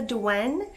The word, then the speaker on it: Douen: like religious undertone in the beliefs surrounding the dwene so i just want to preface with that if you were wondering but let's jump right into it because i could talk forever so the dewen which is spelled d-o-u-e-n it is a creature